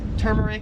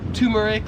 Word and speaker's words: turmeric: 45 is this spice right here, so I would pronounce this as turmeric. However, in Australia, they would pronounce it as turmeric, like you have a tumor, turmeric.